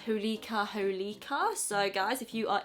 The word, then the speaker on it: Holika Holika: I believe the brand is pronounced Holika Holika.